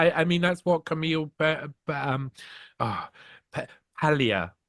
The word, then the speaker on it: Paglia: Ah, Palia. You don't pronounce the G. Camille Palia says.